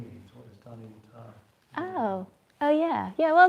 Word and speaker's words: Danayutta: I'll just say it again, Danayutta, because often people get it wrong. It's Danayutta and it rhymes with guitar.